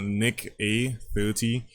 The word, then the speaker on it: NickEh30: of a streamer called Nick a30 he's Canadian so it's like pronounced a as in how you're doing he I guess and um